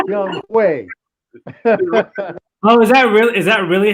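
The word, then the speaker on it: Younghoe: Well, you saw how it's spelled, but it's pronounced Young Way. Oh, is that really how his name is pronounced? It's Young Way? Not Young O?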